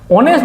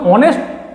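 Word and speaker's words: honest: তাহলে আমি যখন অনেস্ট উচ্চারণ করছি তখন সামনে যদি আমি এইচ দেখতে পাই তার সত্ত্বেও কিন্তু আমি যখন উচ্চারণ করছি তখন একটা সাউন্ড কি আসছে, সাউন্ড আসছে অ, অর্থাৎ অনেস্ট।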